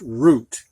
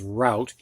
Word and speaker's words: route: that's a route and this rout is only pronounced route however if you put an e on it it can be pronounced root as well as route and this means a